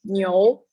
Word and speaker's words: 牛: The next one is ox, and its pronunciation is 牛.